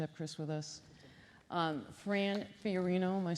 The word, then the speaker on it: Fiorino: Fran Fiorino, am I saying it right?